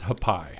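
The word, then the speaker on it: Hapi: I believe it's Hapai. Okay. I about said happy because it's kind of spelled happy.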